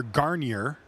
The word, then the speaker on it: Garnier: I am here with Spencer Garnier. All the R's pronounced, we have learned.